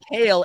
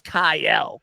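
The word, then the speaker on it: Kayle: They pronounced Kale as Kyle.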